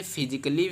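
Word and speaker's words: physically: आपका साउंड ए है तो ये आपका साइलेंट हो जाता है।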